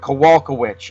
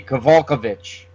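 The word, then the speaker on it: Kowalkiewicz: polish right the uh the w-i-c-z on the end of the name you see that that's that is usually pronounced which like w-i-w-h-i-c-h which I'm gonna go with kawalka witch or some people you could maybe say that W is a v kavalkovich I like the way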